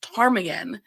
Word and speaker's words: Ptarmigan: I remember one of my early calls at my new agency, we have a street in the city that's pronounced Ptarmigan, and I kept spelling it with a T Tom.